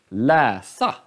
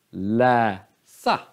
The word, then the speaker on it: läsa: Läsa. Nu. Läsa. Läsa. Läsa. Och det är grav accent.